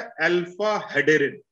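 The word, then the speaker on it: alpha-hederin: और तीसरा है अल्फा हेडेरिन, HEDERIN, अल्फा हेडेरिन।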